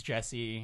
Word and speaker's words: Jesse: UFO Jessi on blast can I say his name was Jess he said Jess okay yeah it's Jesse okay blast make eye